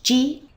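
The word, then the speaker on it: 時: to use it is to mean o it's pronounced G it goes after a number and when you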